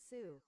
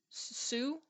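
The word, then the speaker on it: Sioux: How to pronounce Sue. Sue, I hope.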